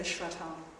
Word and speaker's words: shraddha: So a little bit about Shraddha, which is spelled sometimes S-R-A-D-D-H-A, and sometimes it's got an H in there as well, and you generally say Shraddha.